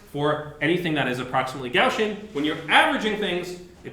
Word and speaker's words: Gaussian: like this so uh if you want to be proper don't say gaussian like me gaussian is like street street uh probability uh say gaussian that's the right way to say it but I'm going to